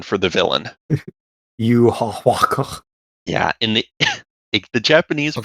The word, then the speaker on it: Yhwach: Yuhawaka. Yeah, in the Japanese Okay. pronunciation is Yuhabaha.